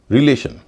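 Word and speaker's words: relation: से पहले दो वल है ई और आई उच्चारण हो रहा ऋ रिलेशन इसको भी रिलेशन कहते हैं क्यों कहते हैं क्योंकि इसमें भी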